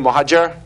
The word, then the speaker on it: Mohadjer: and we have a return visit from mohajer who is if I pronounced that right hopefully yes good hey I'm